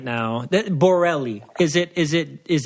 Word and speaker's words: Borelli: we have Jake Borelli on right now that Borrelli is it is it is that am i pronouncing it right yeah yeah is that Italian